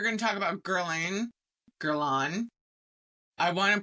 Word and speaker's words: Guerlain: Gerlain. I want to pronounce it like an American and be like Gerine, but it's Gerlain.